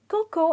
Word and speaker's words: cocoa: call it coca because the pronunciation is Coco and the a is silent moving on we have